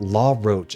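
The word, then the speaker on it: Lawroach: Also, not La Roche, not like that, La Roche, as in L-A-W.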